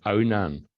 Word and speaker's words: Adomnán: I just add that the pronunciation of Adam nan no it's if you put a hitch a d h o m h it becomes Onan and it's Union which